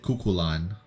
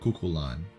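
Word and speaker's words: Cú Chulainn: And as for coup, you pronounce it cuckulan. Even though it's spelled like cuchulain, you you call it or you say it cuckulan.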